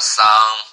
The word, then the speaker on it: Sun: Some people just pronounce like a Sun. I think it's okay.